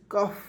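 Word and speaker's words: cough: ओ यू जी एच कफ सी का उच्चारण क के रूप में ओ जी य एच य है इसका उच्चारण फ के रूप में करेंगे कफ कफ मीस क्या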